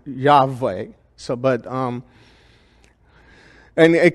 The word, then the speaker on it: Yahweh: Greek transcripts also indicate that Yahweh should be pronounced Yahweh like I'm saying it Yahweh basically it's interesting because the Hebrews don't like